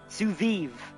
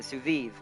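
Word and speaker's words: sous vide: Suviv, that's how you say it. Suviv.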